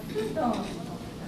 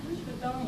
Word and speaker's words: futon: It's the sound you would make when you blow out the candle.